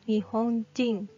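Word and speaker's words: 日本人: Hito yang aslinya orang ketika diletakkan dibelakang nama negara seperti nihonjin nihonjin bacanya Jing jadinya adalah artinya orang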